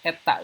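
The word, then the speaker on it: η: ya disandingkan dengan viskositas ini bacanya Eta ya n tapi ada ekornya Eta ini dia menurun seiring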